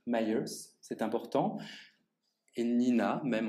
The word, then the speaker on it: Myers: vous vous dites américaine vous prononcez à juste titre myers c'est important et nina